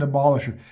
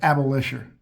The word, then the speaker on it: abolisher: You know, in an earlier episode, I looked at that last word there and pronounced it abolitioner. And a friend of mine and upon watching the the video immediately text me abolisher.